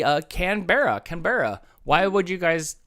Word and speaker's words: Canberra: Brisbane is it Canberra Canberra or is it Melbourne I think you have to get rid of a syllable there I think it's more like camera canbra or Melbourne Melbourne Melbourne